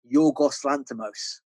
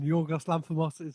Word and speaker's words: Yorgos Lanthimos: Yorgos Lanthimos. Oh, do you have like, Is that how you pronounce it? Yeah. Did I fuck it up? As a Greek man, Yorgos Lanthimos is a perfect pronunciation.